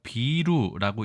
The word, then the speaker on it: 비루: 이 글자는 우리가 비루라고 읽습니다.